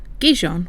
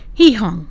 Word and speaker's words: Gijón: And this one is for Gijon, which I have since found out is pronounced Gijón.